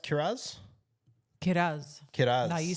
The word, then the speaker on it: Kiraz: The next player, I know you're interested in him, 605K, Jacob Kiraz. Kat, is it pronounced Kiraz? Kiraz.